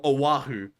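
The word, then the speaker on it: Oʻahu: about it so how is it again oh Oahu Honolulu Oahu at the end of Fort Street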